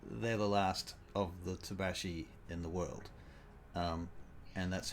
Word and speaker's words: Tabaxi: I discovered it's actually pronounced Tabaxi because it's a South American word from South America and it has pronunciation stuff. So Tabaxi.